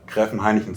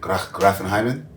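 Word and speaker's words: Gräfenhainichen: No, say Gräfen Heineken 3 times. How you say it? Gräfen Heineken? Gräfen Heineken. Gräfen Heineken? One more time, say it again. Gräfen Heineken. Gräfen Heineken. Gräfen Heineken. It's almost like Heineken.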